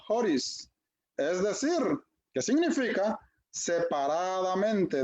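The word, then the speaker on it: χωρίς: Inciso B, esto viene de una palabra griega que se pronuncia horis, es decir, que significa separadamente de la ley, ¿verdad?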